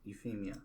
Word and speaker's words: Euphemia: Lelouch spins the situation and orders the Black Knights to defeat the Britannians, protect the Japanese, and kill Euphemia. So like leukemia. Okay, I got it. Euphemia.